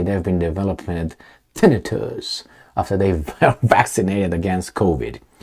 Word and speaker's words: tinnitus: Thousands of people say they've been developing tinnitus, after they were vaccinated against COVID. You know what? How about I see how that's pronounced? That's a good idea. All right, it is tinnitus.